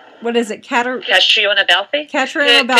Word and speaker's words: Catriona: Catriona Balfe. Katrina? Yes. It's actually pronounced Katrina.